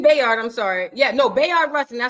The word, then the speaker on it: Bayard Rustin: Rustin Bayard Rustin Bayard I'm sorry yeah no Bayard Rustin I said it right he had a debate